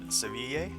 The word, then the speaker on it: Seville: So he'll suggest buying rock salt here and selling it in Seville, which is the correct pronunciation of Seville.